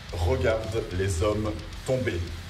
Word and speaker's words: Regarde les Hommes Tombés: Once and for all, please pronounce it like real French. Regarde les hommes tombés. Putain, c'est pas compliqué.